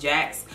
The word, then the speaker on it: Jacqs: first off with facial cleansers I do love Jax and that's how it's pronounced Jax this is a black oil company as well